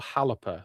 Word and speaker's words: Xalapa: Does anyone know how to pronounce XALAPA, please? That I would be very appreciative. Might be either Wallapa or Halapa, says Hella Geek.